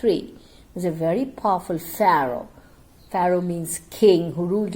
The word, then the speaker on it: Pharaoh: It is Pharaoh. Once again, the correct pronunciation, Pharaoh means king. Pharaoh.